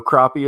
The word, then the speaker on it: crappie: just so you know crappie is the correct way to say the name for that fish and uh because where